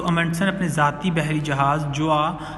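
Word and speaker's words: Gjøa: जोआ जो है ये एक इसमें जी जो है वो एब्सेंट होगा, साइलेंट होगा सॉरी, और जोआ ये एक छोटी कश्ती को कहते हैं.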